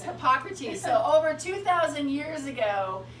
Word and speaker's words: Hippocrates: I can't think how to pronounce. Is it Hippocrates? It's Hippocrates. Okay. It's Hippocrates.